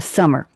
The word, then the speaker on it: Summer: You said Donna Summer. Most people add an S to the end of her name. It was Summer, not Summers, and that's correct.